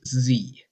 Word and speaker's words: zee: The reason why it's used in America is because Noah Webster, the American spelling reformer, wrote in his first dictionary It is pronounced Z.